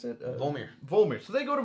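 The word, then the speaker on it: Vormir: So how do you pronounce it? Volmir.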